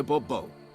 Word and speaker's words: Bourbeau: I expect you to address me as Sir, or better yet, as Monsieur de Bourbeau. Fine. Monsieur de Bourbeau. The emphasis falls on the last syllable.